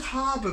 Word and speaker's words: Harbwr: this brewery is called harbour brewing harbour brewery envy enterprise tembi harbour brewery harbour spelt with a w instead of you see i think the